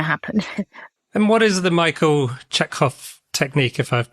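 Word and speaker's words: Michael Chekhov: And what is the Michael Czechov technique if I've pronounced that correctly? Yeah, Michael Czechov.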